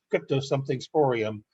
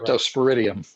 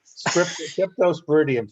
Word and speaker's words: Cryptosporidium: big scare with what's crypto something or other, crypto something sporium. I can't get it right. Can't say it right. Cryptosporidium. Cryptosporidium.